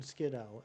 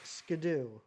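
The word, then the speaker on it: Skiddo: But he looked it up in the book and it is apparently pronounced Skadoo, which makes no sense to me at all.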